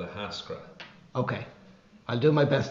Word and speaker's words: Ahascragh: Well, it's just exactly how it is without the GH at the end. Just say it as it is without the GH. Three syllables, Ahascragh.